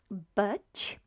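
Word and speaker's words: być: intensive but to be that means to be in polish butch but it sounds apparently quite funny for those who are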